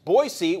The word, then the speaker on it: Boise: or more time yes pronounce is pronounced boys you're nuts boise boise boise okay i will say to because we were messing around this now and just I'm not sure it's okay Boise with the Z all right I'll stay